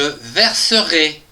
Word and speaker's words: verserai: il ou elle verseront attention ici on a e mais on l'entend je résume je verserai